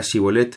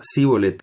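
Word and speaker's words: shibboleth: Los de la tribu de Efraín no podían articular la palabra Shibolet, pronunciándola Sibolet.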